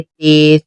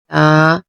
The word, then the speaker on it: ت: سے پرہیز کریں گے، جیسے بے، تے، تے، ایسے نہیں بلکہ عربی لہجہ، عربی تلفظ میں ادائیگی کریں گے، با، تا، سا۔ اور ان 29 حروف